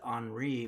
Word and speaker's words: Henri: Not to be confused with Henri, which is the French pronunciation of my name.